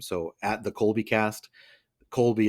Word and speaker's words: Colby: at the kby cast Colby is spelled cby y like the cheese not the not Kobe not the Laker love